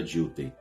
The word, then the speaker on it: Dilthey: Pronúncia em alemão certamente não é assim, mas aqui no Brasil a gente geralmente fala Dilthey.